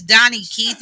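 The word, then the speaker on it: Daugnekeith: name my name is Donnie Keith and I am your host yes my name is spelled d-a-u g-n-e-k-e-i-t-h it don't look like Donnie but it's Donny okay and my [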